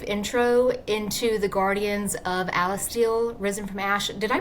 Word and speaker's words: Alistile: So, can you give us a brief intro into The Guardians of Alistel? Risen from Ash. Did I pronounce that right, by the way?